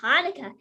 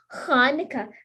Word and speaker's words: Hanukkah: the dog is saying actually both hanukkah and hanukkah are right the holiday's name is hebrew so there are different ways to spell it and say it in english hanukkah thanks applesauce says lucy